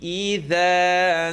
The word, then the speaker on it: إِذَا: Make sure you make the E sounds correctly. Those are the most commonly mispronounced. You hear idha, it's E. Idha, saja. وَاللَّيْلِ إِذَا سَجَى وَاللَّيْلِ إِذَا سَجَى.